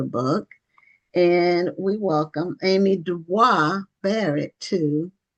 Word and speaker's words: Dubois: And we welcome Amy Dwis Barrett to or is it pronounced Dub? You can let me know. Uh we'll welcome you to Black All Matter TV. Well, I appreciate you. Thank you for having me. It's Amy Dubo Barnett. Okay. Dubo, are you related to Web Dubo? I am not, but he is my namesake. So, I like to pronounce my name the way he pronounced his.